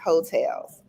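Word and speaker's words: Heaux Tales: to listen to it hotels and it's spelled h-e-a-u-x hotels listen to the album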